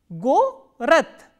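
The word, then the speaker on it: город: So, following the devoicing principle, we can say that the will be pronounced as the. Go-rat, go-rat.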